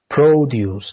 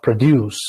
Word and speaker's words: produce: is called produce produce and pay attention it's pronounced produce not produce because produce is a verb it means to